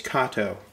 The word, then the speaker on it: Kato: I've pronounced it Kato for years, I think, like a lot of folks, but apparently the appropriate and correct pronunciation is Kato.